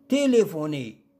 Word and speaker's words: téléphoner: téléphoner. نلاحظ أن حرف البي والآش ينطق ف.